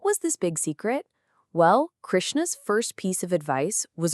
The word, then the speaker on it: Krishna: You'd say it like Krishna.